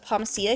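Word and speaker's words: Pomacea: It is pomacia. Okay. It's pomacia bridges I think is how it's pronounced.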